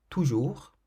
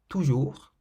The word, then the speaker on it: toujours: So you don't say toujours, for example, you say toujours, keeping the S silent.